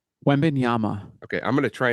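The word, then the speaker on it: Wembanyama: love that so Wana how do you say it you say it wenyama okay I'm going to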